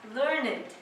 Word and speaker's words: learned: when we use learned as an adjective we pronounce it as learnand so if I say that someone is a